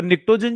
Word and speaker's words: pnictogen: तो निक्टोजन जो वर्ड है, इसमें ध्यान रखना, आप बोलोगे सर बोल रहे हो निक्टोजेंस और लिख रहे हो पी, निक्टोजन निक्टोजन ऐसा नहीं बोलते अपन, है ना, साइलेंट रहता है, ठीक है।